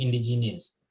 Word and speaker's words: indigenous: i o u s there's no i here so it can never be indigenous it is in d i n that's my first syllable and then d i is my sex second syllable and then third syllable is genus j nus o u s indigenous so more stress on this eye indigenous rather than genius if you say indigenous